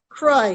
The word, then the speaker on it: Croix: Croix with an X. Yeah, Croix, C-R-O-I-X. Like the fancy water.